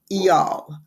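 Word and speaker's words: Eyal: called hooked and it's the author is near EOL very H odd name but that is supposedly the pronunciation it's n i pronounced near and last name is e y a l pronounce eal and it's about how to build habit forming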